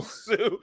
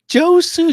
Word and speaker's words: Josue: Josue, Josue. That you say it how it sounds.